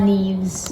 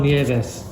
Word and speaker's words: Nieves: Carmelo Martinez, Bryn Smith, and Juan Neves. Juan Nieves.